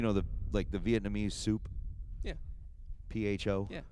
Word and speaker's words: pho: PHO. Yeah.